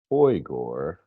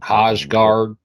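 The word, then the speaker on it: Højgaard: brainer, Sepp Straka, and Nikolai Hoygor, which I learned today because I was wondering how to pronounce his name, and I'm a Hodgegard. Yeah, I'm a hillbilly. I've been calling him Hodgegard this whole fucking Yeah, time. me too. Yeah, well, it's Hoygor.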